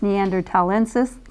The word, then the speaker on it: Neanderthalensis: That's how it's pronounced, Neanderthalensis, commonly called Neanderthal man.